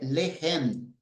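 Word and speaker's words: לחם: Le. E a palavra é lehem. Lehem. Lehem está apontando que a primeira sílaba é tônica.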